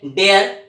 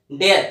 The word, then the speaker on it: dare: अब यहां पर हम चर्चा कर रहे हैं कि ये जो हमारा यूज ऑफ डेयर है, यूज ऑफ डेयर को हम प्रोनाउंस करते हैं डेयर डेयर, यानी इसमें अगर आप